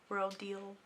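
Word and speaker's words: Rodial: Rodile. Depending on how you want to pronounce it, I'm doing Rodile.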